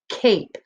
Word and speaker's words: cape: So we have k, ape, cape. The E is silent. Again, we will not hear it say anything.